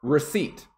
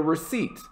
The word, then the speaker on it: receipt: p it is just receipt could i get a receipt i have a receipt the p is silent so just get rid of it and the last pronunciation